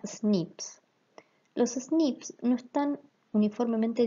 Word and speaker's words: SNP: abrevian como snp y la pronunciación de estas siglas en inglés suena snips los snips no están